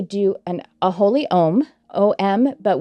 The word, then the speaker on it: om: an a holy ohm om but when it is pronounced in one long syllable we actually pronounce all three of the sounds which is ah and